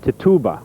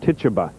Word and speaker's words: Tituba: the slaves was called we think the pronunciation is Tituba what Tituba and it was in